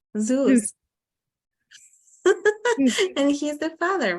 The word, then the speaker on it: Zeus: Sauce? Zeus.